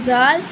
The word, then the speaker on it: ظ: letter feel the vibration in your throat while pronouncing जाल that is द अह टिप फॉर all teachers